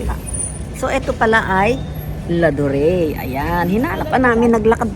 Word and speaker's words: Ladurée: At itong laduri na to ay lad ano how how do you pronounce it? Ladure. This is called ladure. Sa aking sa sa ating mga tagaapilipinas pag binasa natin to ay lad laduri kadir ay hindi hindi